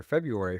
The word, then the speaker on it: February: So by the time that word got to English, that R wasn't even pronounced. English has never pronounced that first R for as long as it's been a word in English.